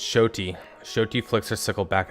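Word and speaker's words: Xoti: I'm already mispronounced it it's not zotti it's shoy shoy flicks her sickle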